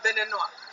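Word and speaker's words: Béninois: If there was no e like a man, we're going to say he's Beninois.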